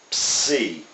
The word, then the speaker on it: psi: But it's pronounced ps, psi.